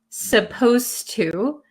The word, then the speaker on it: supposed to: at supposed to and notice when I pronounce supposed to um the D sound and the T sound become kind of like one sound so when I speak